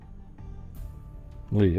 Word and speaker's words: Lee: Is it Lee or Lay, or how do you pronounce that? I'll wait for that since I don't want to keep saying it wrong. Lee, okay, that's what I thought.